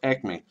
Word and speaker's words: aicme: That's the first ekme, and to spell that, it's AICME.